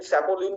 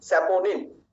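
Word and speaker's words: saponin: এখানে অনেক বন্ধুরা একটু ভুল করেন, তারা এনটাকে পরের এনটাকে লয়ের মতো উচ্চারণ করে লিন বলেন, লিগলিন বলেন, স্যাপোলিন বলেন। বন্ধুরা না, লিগনিন, স্যাপোনিন।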